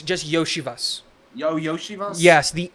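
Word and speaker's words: Iosivas: no no it's just yoshivas yo yoshivas yes the L is a y for some reason and so it's yoshivas think Yoshi and then Vas that's it so um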